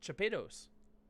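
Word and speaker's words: Chapados: in spanish sevilla but i never used that pronunciation so yeah you know my last name is uh c-h-a-p-a-d-o-s it's chopitos to pittus oh it says we're live look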